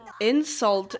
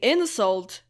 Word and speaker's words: insult: of the word um because when you say insult that's a noun and when you say insult that's a verb right I noticed in one